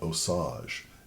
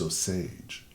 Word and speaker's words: Osage: I've been mispronouncing this it's not Osage it's Osage so thank you for